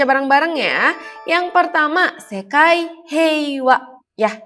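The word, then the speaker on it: 平和: Dibacanya wa heiwa karena bertemu dengan kanji heiwa.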